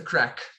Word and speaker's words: craic: with that it's uh it's spelt differently it's c or a i c and it means fun it means uh excitement where's the action yeah exactly yeah so there's what's what's the crack would be how you